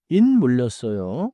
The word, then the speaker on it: 물렸어요: 물렸어요. 커넥트리인 물 smoothly into 물렸어요. so not a hug pa 물렸어요.